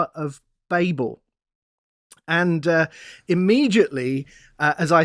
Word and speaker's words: Babel: maybe we're both wrong well i'm gonna stick with babel because it's what i know and it's it's how um we tend to pronounce it here and i'm going to probably say yeah i'm going to say babel cause i'm an american and that's what we